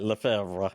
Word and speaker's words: Lefevre: I'll pronounce it for you. Lefevre. Lefevre. I think it's exactly right. Lefevre. Just say it like that.